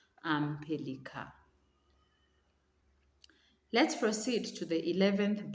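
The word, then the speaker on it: pélican: And the N is silent. Un pelican.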